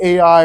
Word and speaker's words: Ai: and I will understand it's actually pronounced I and so it says